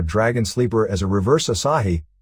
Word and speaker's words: Asahi: sleeper as a reverse asahi pronounced like the beer ddt the next experiment